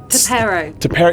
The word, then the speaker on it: T'Perro: Now, the big reason you're here today is because you're playing, I'm going to get this name wrong, but it's Dr. Lexi. Tapero.